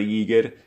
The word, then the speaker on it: Giger: Hans Ruedi Giger, que j'ai aussi entendu prononcé de différentes manières, mais la bonne façon de le prononcer est ceci, je vais l'appeler Giger.